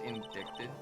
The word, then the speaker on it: indicted: It's pronounced indicted.